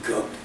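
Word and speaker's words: Coke: in 1628 cook cook he pronounce his name cook me cook was asked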